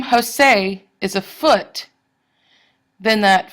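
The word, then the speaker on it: José: And a lot of names are actually iambs, like Jose or Tien or Ivan. The stress is on the second syllable. If the name Jose is a foot, then that foot is an iamb.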